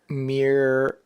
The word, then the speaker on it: Miramichi: But if you had not heard me pronounce it, you probably Oh, okay, I'm going to try to read it. Miramichi?